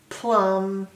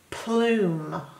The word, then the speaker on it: plume: thumb it says fume it doesn't say plum it says plume because of the E the E makes the vowel in the middle say its name which is its long sound not a short sound